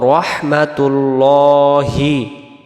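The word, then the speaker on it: رحمة الله: I Yohan নাবিউ নাবিউ এমন হবে তারপরে ওয়া রহমাতুল্লাহি ওয়া রহমাতুল্লাহি আল্লাহ শব্দের ডানদিকে পেশ থাকার কারণে লাম অক্ষরটাকে ল পড়ে পড়তে হবে রহমা ওয় রহমা ওয় রাহমাতুল্লাহ যেন না হয় হবে ওয় রহমাতুল্লাহি ওয়াবারাকাতুহ আমরা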